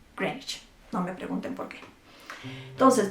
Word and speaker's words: Greenwich: decir aldea verde y ojo con la pronunciación no se dice como en eeuu greenwich se dice french no me pregunten porque